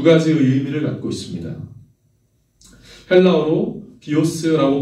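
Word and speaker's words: βίος: 헬라어로 비오스라고 발음하는 그 생명은 우리의 육체의 생명입니다.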